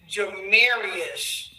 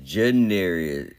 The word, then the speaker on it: Janarius: Nah, that is Janarius. Alright, so you know the first part of mom's name? It's spelled just like that, Jana. Janarius. Oh, Janarius. Lord.